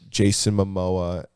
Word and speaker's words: Jason Momoa: Jason Momoa or what is that how you say his name?